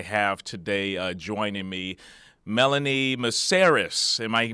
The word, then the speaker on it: Melanie Mesaros: the guest I have today uh joining me, Melanie Meris. Am I pronouncing that right?